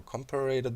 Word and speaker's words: comparator: We put our comparator down. Comparator. It's actually how you say it correctly. I often say comparators. It's a comparator.